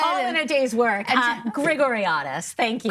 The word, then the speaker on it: Grigoriadis: Grigoriadis, thank you. Grigoriadis.